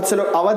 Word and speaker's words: अवध: अवध की spelling OUDH भी लिखी जाती है और AWADH भी लिखी जाती है, तो आप लोग कंफ्यूज ना हो. उवध बोलते थे बहुत से लोग अवध बोलते हैं इसे.